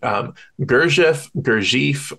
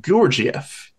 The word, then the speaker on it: Gurdjieff: Different people pronounce it differently. You can pronounce it Gurdjieff, or if you want to be like more authentic to the sort of Armenian Turkish pronunciation, it's more like Gurdjieff.